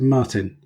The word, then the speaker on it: Martijn: is it Martin or is it Martin I accept any form of my name but it's the proper pronunciation is Martin Martin okay yeah okay I'll